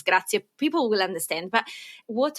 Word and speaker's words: grazie: The Z in Italian is pronounced more like a TS in English.